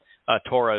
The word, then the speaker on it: Towrah: Towrah is a perfect example. No one doubts how that it's properly pronounced Towrah. The O sound in Towrah is from a Wah. The Ah sound at the end of Towrah is from the Hey.